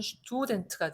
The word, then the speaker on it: Student: 얘만 S 다음에 태가 나왔기 때문에 자, S 다음에 태나 패가 나오면 S는 발음상 살짝 비껴가는 발음을 내준다. 스트가 어려우니까 슈트 이렇게 약간 비껴간다라고 하는 거죠. 슈트나 슈프가 된다. 다시 한번 S 다음에 태나 패가 오면 발음이 어렵기 때문에 스 발음을 슈 발음으로 약간 비껴가게 발음을 해준다라고 하는 겁니다. 여기서는 슈투덴트가 되고요.